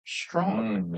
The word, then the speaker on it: Strachan: 1812 and uh his name is Bishop John Strong. Yes. Now you don't spell it that way, do you?